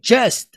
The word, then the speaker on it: just: Você vai ler just. Por que eu coloquei um D aqui, então, junto com J? Para você pronunciar com força.